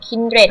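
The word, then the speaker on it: Kindred: นี้ นะ คะ ก็ คือ Kinr the eternal hunter พาน คู่ หู แกะ หมา ป่า อ่าน ว่า Kinr นะ คะ Kinr นะ คะ เหมาะ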